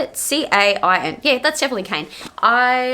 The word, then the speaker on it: Cain: Not gonna lie, is it Cain? Is that his name? Hang on, let me have a look. Cain. I think that's how you say it. C-A-I-N.